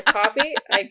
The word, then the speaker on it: Ko-fi: the show notes to Ko-fi. To Coffee. You know what? You say it wrong for a year and a half. It's hard to say it properly.